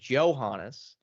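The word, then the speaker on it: Johannès: It is Johannes. I'm surprised that's the way they pronounce her last name.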